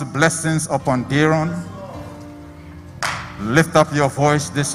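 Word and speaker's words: Daaron: D-A-A-R-O-N. But it's pronounced Daron.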